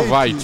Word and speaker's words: Veit: Mas se pronuncia Veit, viu?